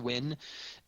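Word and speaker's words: Nguyen: discussed like having Cloud win. That's how you pronounce that last name, Win. I have a friend with that last name. So it's spelled Nagulian. You pronounce it Win.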